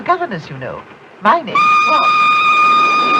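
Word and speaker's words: Froy: My name's Roy. You said Roy? No, not even Lee. Roy. I'm sorry, I can't hear. It rhymes with joy.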